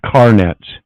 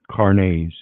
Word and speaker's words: carnets: going to talk about is a thing called Carn Nets now I did a video a long time ago and I mentioned this but this is carnets it's actually pronounced cares Carnes French seemingly and it has to do with